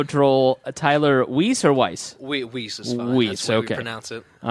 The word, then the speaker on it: Weiss: Weiss is fine. Weiss, That's the way okay. we pronounce it.